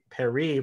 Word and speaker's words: Paris: official Netflix Twitter says is supposed to be pronounced Emily in Paris, so that way Paris rhymes with Emily.